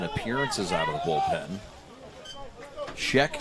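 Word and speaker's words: Schoeck: Scheck, spelled S-C-H-O-E-K, O-E-C-K. See, I can't even spell it. I can say it because I remember it's Shrek without the R.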